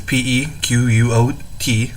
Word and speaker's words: Pequot: surrounded the Pequot tribe I believe that's how you pronounce it is PE quot Pequot I believe they have